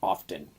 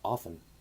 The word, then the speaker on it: often: Also, why does everybody say often? Like with the T. Even I slip up with it and say it. It's pronounced often. But because it has a T in it. Yeah, but the T's silent.